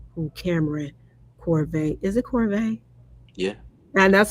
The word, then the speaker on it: Corvet: It Corvet? Yeah. And that's how I've been pronouncing it.